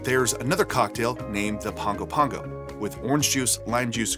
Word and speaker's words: Pago Pago: if you are wondering why I keep saying Pongo Pongo and not Papago Pago is because that is the capital city of American Samoa and that's how they say it there American Samoa has been